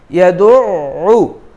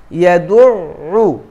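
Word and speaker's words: يَدُعُّ: এরপরে ফাযালিকাল্লাযী ইয়াদউ, এখানে আইনের উপরে তাসদীদ আছে, একটু শক্ত করে উচ্চারণ হবে।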